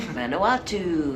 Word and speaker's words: Vanuatu: We're coming to you from the island of Vanuatu. Oh, she pronounced it right.